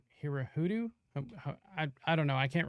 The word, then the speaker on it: Hirohito: And we also made Hirohito, Hirohudu? I don't know. I can't remember how you pronounce Hirohito. Sorry. Hirohito, we made him surrender in front of the